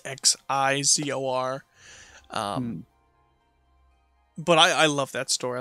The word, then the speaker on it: Xizor: And then the other one I have is Darth Vader and however you want to pronounce it, Prince Xizor. It's Xizor.